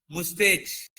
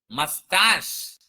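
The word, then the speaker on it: moustache: నాట్ ముస్టేచ్. ఇట్స్ నాట్ మౌస్టేచ్. You have to సే మస్టాష్.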